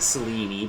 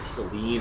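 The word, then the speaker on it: Selene: I know the game pronounces it Seleni, but I do think that that's a misprononunciation. I think it should be either Seline or Selena.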